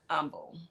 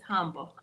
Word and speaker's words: Humble: The H is silent.